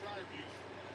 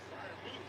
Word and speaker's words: Freiermuth: So if you heard the starting lineup when the guys say their own name, he says Pat Freiermuth, the U in there. But our fans say, ooh, Freiermuth, right?